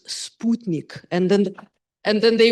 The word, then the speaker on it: Sputnik: And the first thing I said was it's Sputnik.